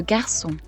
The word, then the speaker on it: garçon: You can add a cedilla to a C in French to indicate that it should be pronounced like a S, like in le garçon, when otherwise it would be a K.